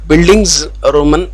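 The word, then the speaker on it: Bildungsroman: is buildings roman novel once again i will pronounce this word buildings roman novel the german world buildings roman indicates growth okay so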